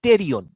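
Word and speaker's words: pterion: হ্যাঁ পিটেরিয়ন না টেরিয়ন বলতেই হবে, পি টেরিয়ন দিয়ে শুরু আর কি, মানে উচ্চারণ টেরিয়ন কিন্তু পি দিয়ে বানানটা শুরু, ওই টেরিডো ফাইটার মতন, টেরিডো ফাইটার পড়তো আচ্ছা।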